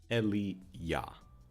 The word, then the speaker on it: Elia: Okay, so it's pronounced Elia. Elia. Very weird pronunciation, but okay, I'll go with Elia. Not fucking Elijah.